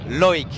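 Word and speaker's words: Loïc: Estamos aquí con Loic. Loic. ¿Lo dije bien? Lo dije muy bien. Muy Lo has bien, dicho sí. muy bien. ¿Cómo se dice en francés tu nombre? Loic. Ah, igual. Igual.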